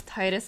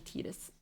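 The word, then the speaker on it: Tidus: See, I thought it was Titus as well for the longest time. I think most of us in like North America think it's Titus because of the way it is spelled but then when you read it in Katakana and it's confirmed as well by a lot of people it's actually Tetus.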